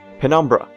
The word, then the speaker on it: Penumbra: I use Penobrim, or Penobram, or Penobrim? I swear I knew how to say it a while ago. Penumbra.